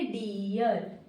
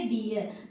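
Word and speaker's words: deer: डियर। क्या पढ़ेंगे? डियर।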